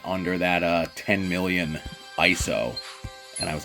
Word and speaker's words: ISO: have feeling and again I pronounce it ISO not ESO if you pronounce it es so we need to have a conversation I got a chance